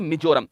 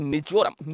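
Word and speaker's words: Mizoram: कहां से मुरल आपके मिजोरम एम आई जड ओ आर यू एम इसको बोलते हैं मिजोरम मिजोरम कहते हैं ठीक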